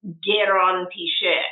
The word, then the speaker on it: Granpeesheh: So the right way to actually pronounce my name, because my name is Iranian, is Granpeesheh.